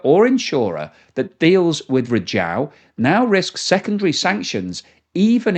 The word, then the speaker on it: Rizhao: Well, it's pronounced Rizhao, and it sits on China's east coast in the Shandong province, which is in the heartland of Chinese oil refining.